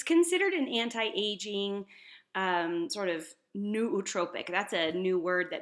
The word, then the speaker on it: nootropic: So it's considered an anti-aging sort of nootropic. That's a new word that maybe you haven't heard before. It's spelled Nootropic.